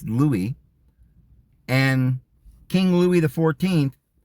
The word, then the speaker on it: Louis: King Louie the uh I don't know whether you pronounce it lwis or Louie I suppose you could pronounce it both ways here in America I think we all a lot of us say lwis but it's Louie and King Louis the